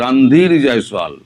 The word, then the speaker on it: রণধীর জয়সওয়াল: ভারত বলেছে রণধীর জয়সওয়াল, আপনারা ভুল উচ্চারণ করেন, ওনার নাম হচ্ছে রণধীর জয়সওয়াল, রণধীর নয়।